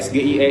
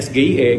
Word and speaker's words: SGIE: asing dengan akronim asing kalau pelafalan singkatan asing karena dia bukan sebuah kata Jadi disebutkannya huruf perhuruf dan huruf-hurufnya itu menggunakan huruf bahasa Indonesia Contohnya kayak sgie ini adalah benar disebutnya sgie Jadi bukan SGI pertimbangannya ya itu tadi